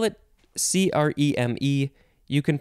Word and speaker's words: crème: I think I'll say creme because it seems more appropriate. It's a French word, by the way.